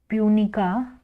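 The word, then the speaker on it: Punica: scientific name क्या होगा इसका साइंटिफिक नेम होगा पूनिका पी यू एन आई सी ए पूनिका ग्रेनेटम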